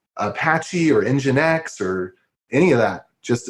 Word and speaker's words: nginx: No load balancer, not even like Apache or NGinx or any of that.